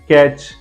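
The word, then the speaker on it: catch: लीजिए टी के बाद सीच है बैच वच कैच मैच फैच पैच देख लीजिए यह सारे स्पेलिंग में टी के बाद सीच है और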